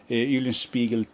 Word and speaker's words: Eulenspiegel: Eulenspiegel 2, yes, that's how you pronounce it, with that cocky backside there.